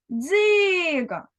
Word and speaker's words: Дзига: визначимо наголос для цього спонукаємо наше слово отже Дзига куди падає наголос правильно на перший склад Порахуй скільки букв і